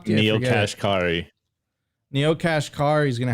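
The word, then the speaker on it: Neel Kashkari: Neil Kashkari.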